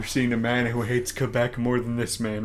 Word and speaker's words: Quebec: a man who hates quebec more than this man right here the fact that you say it like the french well if i say it okay i could call it quay back crazy quack i stand